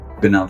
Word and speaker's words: Benafsha: Bava.